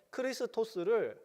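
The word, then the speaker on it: Χριστός: 그리스도 라는 것은 무엇일까요 헬라어로 그리스어 줘 크리스 토스를 한글 발음으로 1 역으로 발음한 것이 그리스도 라는 거예요 크리스 토스를 한국말로 그리스도 라고 한 거죠 당신은 여기서 주는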